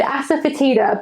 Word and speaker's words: asafoetida: is pretty funny word, asafoetida, but basically you spell it just in the same way that you say it, asafoetida.